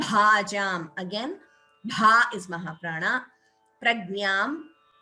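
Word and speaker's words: प्रज्ञाम्: again bha is mahaprana prajnam please note the pronunciation of this letter it is gnya like you have in jnanam that gnya so please do not say gna that is different that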